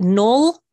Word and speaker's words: Noel: today with Noel Malloy is it null yes excellent because I know I mispronounced your name the first time we met which is unfortunate I'm so sorry and thought it was Noel no right as as